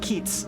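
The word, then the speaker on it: Kiez: Uh, it's pronounced Keats, as is Hamburg slang for hood.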